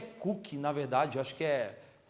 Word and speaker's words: Coke: Aí tem lá a metáfora toda lá, o Edward Coke, um dos grandes autores, Coke não é de Coca-Cola, né? Na verdade a pronúncia eu acho que é Cook, na verdade, eu acho que pessoal, já ouvi gente falando, mas não importa.